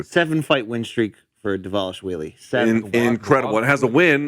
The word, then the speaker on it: Dvalishvili: I'm sure I'm fucking his name up, but they say on the broadcast Dvalishvili. There's a V there, but they pronounce it like a W. 7-fight win streak for Dvalishvili.